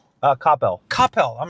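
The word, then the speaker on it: Coppell: Like most people in Dallas call it CPel. Okay. But people from Copel call it Copel.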